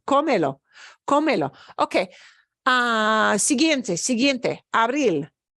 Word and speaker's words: abril: Abril. No, no, No. Obeys the rule. We punch the end.